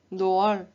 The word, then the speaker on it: doğal: And the second rule is it lengthens the vowel that precedes it and connects it with the vowel that follows.